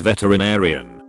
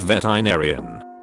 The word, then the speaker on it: veterinarian: that the word is veterinarian not veterinarian six syllables six not five veterinarian when Americans pronounce